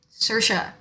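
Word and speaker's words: Saoirse: this is a struggle it's spelled shirt it's spelled like that s-a-o-i-r-s-e sercia i personally love it i think it is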